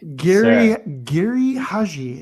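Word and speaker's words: Giri/Haji: Geri Haji, Ron Lippett, take it away. Geri Haji is how it's pronounced.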